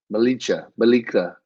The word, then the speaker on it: Bjelica: I mean, you can also look at Bjelica, how you say it? The J is silent. Bjelica.